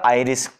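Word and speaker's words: iris: तो आपको सामने सामने क्या दिखेगा, एक आपको पोर्शन दिखेगा आइरिस, जिसे कोई कोई इरिस भी कहता है, आइरिस भी कहता है, कैसे भी प्रोनाउंसिएशन कर लो, IRI ऐसी स्पेलिंग रहेंगे।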